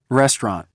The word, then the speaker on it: restaurant: restaurant نوشته میشه و restaurant خونده میشه.